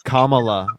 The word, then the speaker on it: Kamala: It's Kamala. Kamala. Kamala. Yeah. Oh, well, okay. Well, I'm sorry that I said Kamala's name wrong.